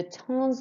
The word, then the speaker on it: temps: And notice how, because there's nothing after this, that sounds like temps. We don't pronounce the P or the S, but with that, we pronounce the S.